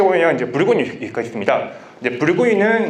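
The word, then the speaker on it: Bourgogne: 이제 붉은이는 이제 불어식 발음이고, 버건디는 이제 영어식 발음입니다.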